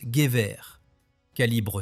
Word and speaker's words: Gewehr: Le 5 avril 1898, l'Empire allemand adopta officiellement le G 98 que l'on prononce Guibre 7,92 mm, longueur totale